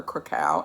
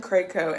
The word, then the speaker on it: Krakow: craig first of all i've been pronouncing erin krakow's name wrong i've been calling her cacao and i'm so sorry aaron if you see this i'm so sorry um but the aaron cracow and tyler hines film